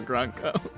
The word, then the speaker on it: Grunko: I like that you've chosen a hard C for Grunko.